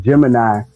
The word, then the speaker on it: Gemneye: Um, so it's Gemini, but it's spelled like a gem in your eye, and it kind of spoke to that underdog spirit.